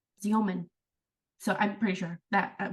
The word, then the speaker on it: Xeomin: But it's called Xeomin, Xeomin, Xeomin. So I'm pretty sure that we looked at the Yeah. pronunciation, but it's pronounced with a Z.